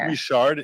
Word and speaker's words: Richard: question thank you um is it pronounced rishard in French rishard oh it would definitely be rishard yeah with a hard R A Hard a hard